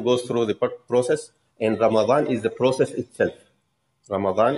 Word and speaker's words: Ramadan: They say Ramadan. And that's not the correct pronunciation, actually is with the fatha. It's Ramadan, as it is mentioned in the Quran.